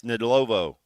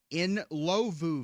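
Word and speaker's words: Ndlovu: in Lovu. The D is silent.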